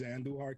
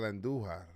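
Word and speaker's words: Andújar: Chris, what do we do with Miguel Andujar? We roll our R's.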